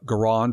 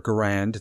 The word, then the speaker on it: Garand: i had a uh m1 uh garand or garand depending on how you say it uh and it is